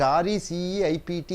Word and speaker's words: receipt: the receipt so you call it as receipt r e c e i p t you pronounce it as receipt an acknowledgment for money